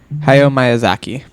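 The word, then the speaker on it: Hayao Miyazaki: I don't know how to pronounce that. Do you? Hio. Oh, yeah. You said it right. Hayo Myazaki.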